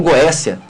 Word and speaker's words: Goétia: risca aquela Goétia, ou Goécia, depende da pronúncia. Uns falam Goécia, outros falam Goétia, mas se escreve G-O-E-T-I-A, com T, né? Uns pronunciam Goécia devido vindo do grego, tá?